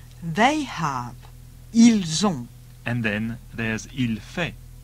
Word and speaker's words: ils ont: Notice all the plural ones end in ont and are pronounced on. Il est. Ils sont. Il va. Ils vont. Il a. Ils ont.